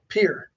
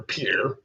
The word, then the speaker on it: Pierre: It looks like a French name, but it's not pronounced like a French name. Trudeau, South Dakota. Yes, close. I don't know. Pierre. Oh, like But Pierre. Pierre, yeah.